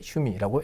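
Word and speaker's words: 趣味: 일지 않도록 장엄 아닙니다 짧게 슈미라고 읽어주시면 되겠습니다 자 다음 이제 세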